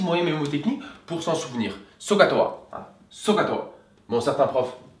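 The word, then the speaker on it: SOHCAHTOA: Voilà, il faut prononcer un petit peu le H, sinon ça n'a pas de sens.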